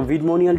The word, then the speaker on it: Vidmonial: And bonus number five is the Vidmonial 2.0, not nominal but monial. I was pronouncing wrong. So Vidmonial 2.0.